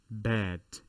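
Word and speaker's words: باء: Remember the word bad in English, but remove the D. That is the pronunciation.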